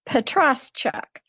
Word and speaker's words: Petroschuk: My last name is pronounced Petroschuk. Although I have a caveat with that.